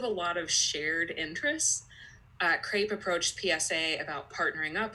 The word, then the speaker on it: CREP: know how it's pronounced it rhymes with grape its crepe I don't care it's